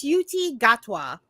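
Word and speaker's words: Ncuti Gatwa: it's okay um it's it's Hu it's it's suti gatwa MH you looking at the pronunciation this entire time I have inner group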